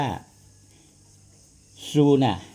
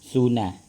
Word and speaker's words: ซูนา: ขลุ่ย เขา เรียก ว่า ซูน่า ซูนะ นะ ครับ ผม สู้ ไม่ ใช่ สู้ หลัง นะ ครับ ซู ซอ โซ่ สระ อู น หนู สระ อา กซู่า คือ มัน สะกด ด้วย s u o นะ ที่ เขา เขียน